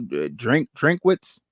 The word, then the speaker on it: Drinkwitz: Drinkwitz. Is that how you pronounce it?